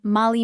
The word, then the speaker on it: malý: Baba used to call me malý Michal and I always thought it was spelled like the name Molly.